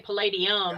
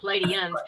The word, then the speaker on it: Pleiadians: I always keeps going am I going to say Palladium and Pleiadians let's say it right um they're in a